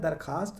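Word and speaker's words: درخواست: दरखास्त दरख्वास्त लिखा जाता है। दरखास्त पढ़ा जाता है। समझ में आ गया ना? तो यहां भी वाओ साइलेंट है।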